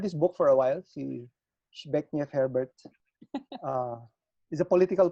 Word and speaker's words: Zbigniew: And Zbigniew yeah, na. but Shbeknev Herbert, Yes, actually. Shebeknev.